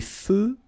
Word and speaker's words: feux: Des feux de circulation. So here, final X not pronounced.